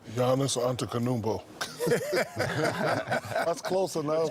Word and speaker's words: Giannis Antetokounmpo: Giannis Antetokounmpo. That's close enough. It's kind of in the ballpark. Is that right, my brother? No, Shaq. All right, teach me right quick. It's Giannis Antetokounmpo.